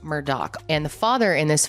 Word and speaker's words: Murdaugh: so the Murdoch family their name looks like murder it's pronounced Murdoch and the father in